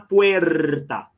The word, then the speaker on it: puerta: Lembra aí, ó, o E fechado e o R é vibrante, ó. Una puerta. Olha aí o R, né?